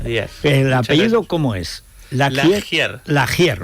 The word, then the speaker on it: Lagier: La laier, o sea, tal y como suena. Exacto, exactamente. No, en realidad es de origen francés.